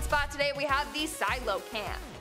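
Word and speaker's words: Coelacanth: our number one spot today we have The Silo Camp Silo Camp which is spelled nothing like it's pronounced I thought it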